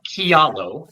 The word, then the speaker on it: Kialo: And yes, we are Kialo, and it's not a word you would have